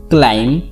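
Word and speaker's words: climb: बी हमारा silent क्यों है, तो इसका मैं आपको रूल बता दूं कि जब भी एम के बाद आपको बी दिख जाए तो यहाँ पे हमारा बी साइलेंट होता है।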